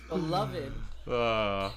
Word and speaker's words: beloved: Oh, beloved, that's beloved right. Gotta get that syllable in sci-fi television series.